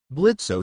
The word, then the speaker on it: Blitzo: Undeterred by the larger demons, Blitzo stood up, wiping the dust off his suit. Onio, first of all, my name is Blitz. The O is silent Second of all, who do junkyards call themselves?